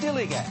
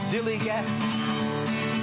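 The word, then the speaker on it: DILLIGAF: to their attitude too in a word Dilly that's spelled D i l l i g a f Dilly Gat this is what it means do I look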